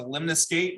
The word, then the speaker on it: lemniscate: Yeah, and the right way I describe it is a lemniscate rhymes with 8. So if you see lemniscate, think 8.